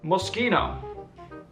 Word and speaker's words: Moschino: Moschino.